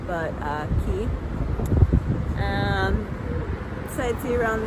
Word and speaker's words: Quay: which I was very clearly told is not pronounced Quay but uh key um besid see you around there then go